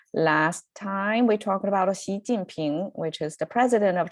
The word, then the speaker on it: Xi Jinping: Last time we talked about Xi Jinping, which is the president of China, President Xi, right? So that's how we hear his name sound in the media here, President Xi, but it's actually Xi Jinping.